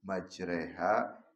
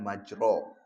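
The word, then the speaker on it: مجراها: Jadi bacanya itu e harusnya kan majro. Majroha tapi dibacanya e jadi majre. Majreha ini namanya imalah.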